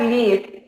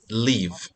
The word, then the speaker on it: live: parents okay my parents live in a very small flat okay it's not leave this is live leave yeah this is